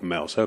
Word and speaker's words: Mouser: I keep on saying Mouser, it's spelt Mouser, but when I phoned them up, they pronounce it Mouser.